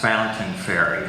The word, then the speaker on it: Fontaine Ferry: acceptable but it it's usually it's always been pronounced fountaining fairy so I figure that's why Tony Landon wi